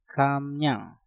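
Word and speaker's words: 감량: Kam diakhiri dengan mium, setelah itu diikuti kata yang diawali dengan real, maka realnya kita rubah menjadi suara nien. Maka untuk kata ini pengucapannya menjadi kamnyang. Kamnyang. Kamnyang.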